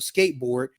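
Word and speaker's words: Sk8brd: that's Pharrell rapping under his old alias of Skateboard and that's spelled s k the number 8 and b r d.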